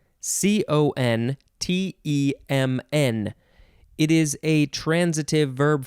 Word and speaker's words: contemn: treat with contempt yeah when i read that it's pronounced contem i thought that's that's close to contempt um yes so that's